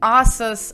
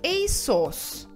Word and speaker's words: ASOS: нанесете следующий бренд одежды я слышала множество вариаций asos asos asos но все это не верно правильно этот бренд произносится как и сосс иссус обратите внимание что конечно